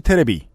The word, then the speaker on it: 테레비: 변희재 대표를 유명한 미디어워치에서 8월 19일에 DHC 테레비, 이거 고유명사가 이러니까 테레비라고 읽어야죠.